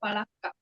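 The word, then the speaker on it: فلق: ஷேக் பண்ணி ஸ்டாப் பண்ணனும் பலக் பலக் பலக் இப்போ நீங்க ஷேக் பண்ணாம சொல்றீங்க ஷேக் பண்ணி எப்படி சொல்லுவீங்க ஷேக் பண்ணா இக்கா அப்படிங்கிற மாதிரி முடிக்கணும் பலக்கா ஃபலக் பலக் பலக் இது ஷேக் பண்ணாம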